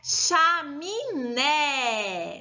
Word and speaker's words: chaminé: E a última é chaminé, chaminé. O né é a sílaba mais forte dessa palavra.